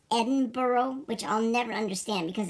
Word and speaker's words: Edinburgh: Well, it's pronounced Edinburgh, which I'll never understand because it's clearly spelled Edinburgh, but they say Edinburgh.